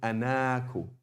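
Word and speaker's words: أنا: But anyway, the point is, by default, we write it like this, but we pronounce it like this. Ana, not ana. Okay, that's the default. There are some exceptions, but by default, it's always pronounced like this. Ana, and not ana.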